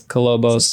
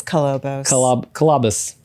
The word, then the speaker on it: Kolobos: going to get a saw blade that says colobos colobos cabus I'm still pronouncing it the wrong word it's cobos cabus yeah cabus cabus okay cus cabus so we'll